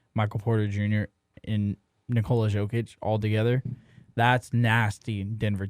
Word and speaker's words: Jokic: having Jamal Murray, Michael Porter Jr., and Nikola Jokic all together, that's nasty Denver team. Say it with me one more time. Yeah, he said- Jokic, yeah. not Jokic. He's the Joker, not Jokic.